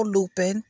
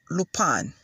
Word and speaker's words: Lupin: of lupon now i was calling the show lupin because you know i didn't know it i